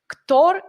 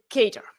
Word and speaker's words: Kotlin: speakers in our audience tor is wrong you should say cater so welcome hari thank